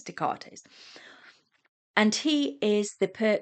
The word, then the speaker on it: Descartes: Renee Dartes and I I apologize cuz I always call him Desgartes cuz that's how it's spelled but it's really nice Dartates and he is the